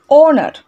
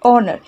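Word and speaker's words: honour: কেন এগুলোর আগে আমরা অ্যানকে ব্যবহার করে থাকি, এগুলোর আগে আমরা এইচ লিখেছি কথাটা ঠিকই, কিন্তু আমাদের উচ্চারণটা কিন্তু ও এর মতো হয়, এর যে উচ্চারণটা হচ্ছে, প্রোনাউন্সিয়েশন বা উচ্চারণটা হচ্ছে, এটা ও এর মতো হচ্ছে, রাইট?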